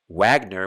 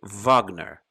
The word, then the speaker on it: Wagner: f sound of volkswagen just like w is actually a v wagner would be wagner wagner which is very important